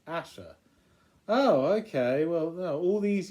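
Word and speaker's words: Ayesha: a pronunciation guy that says her name is pronounced Asha oh okay well all these years I thought it was Aisha because of the film yeah well Asha or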